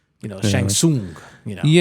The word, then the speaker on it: Shang Tsung: No, no, it's Shang Tsung, you know, Shang Tsung, you know.